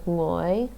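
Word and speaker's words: 我: English speakers need to learn to use that at the beginning of a syllable. So like to say I in Taishanese is ngoi, ngoi.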